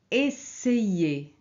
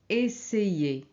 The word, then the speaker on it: essayez: Alors ici, on ne prononce pas aïe, on prononce ei. Ok? Pays, pays, paese. Essayez, essayez.